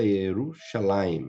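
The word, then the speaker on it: ירושלים: esse sinalzinho para almoçar para vocês que a pronúncia yerushalaim né então e eles chegaram a Jerusalém como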